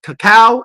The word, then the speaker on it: cacao: There are 2 ways people say it, cacao and cocoa. But did you guys know that technically both ways are actually the correct way to say it?